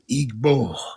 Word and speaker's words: Igbo: You pronounce the G in Igbo? Igbo. Shit. That's how you pronounce it, man.